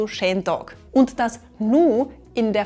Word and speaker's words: Schen Dog: Typically, “beautiful” becomes “sche” in our dialect and we pronounce “day” like “dog.” So that makes “Schen Dog”.